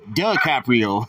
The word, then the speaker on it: DiCaprio: It's duh, not D. DiCaprio. DiCaprio. Yeah, I like that. Fettuccine, duh, like. What you mean that you ain't heard of him? What you mean? Duh. Like, Meezy Fettuccine DiCaprio.